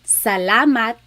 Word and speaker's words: salamat: So the letter A, ah, ah, ah. Not ah and not ah, just ah, ah. So let's practice saying salamat, salamat, salamat. It's not salamat and it's not salamat.